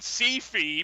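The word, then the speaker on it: Syfy: it was only on C-Fi, because that's how it's pronounced, I swear to God.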